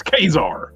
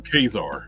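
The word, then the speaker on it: Ka-Zar: It's Kazar. Yeah, that's always been Kazar. It's well, if you read it phonetically, yeah, it's Kazar.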